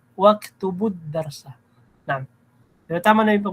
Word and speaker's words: واكتبوا الدرس: Ganoon din sa waktubul darsa, mali. Waktubud darsa. Naam. Pero tama na yung pagbasa mo, ya ayyuhat tullabu udkhulul fasla wajlisu waktubud darsa.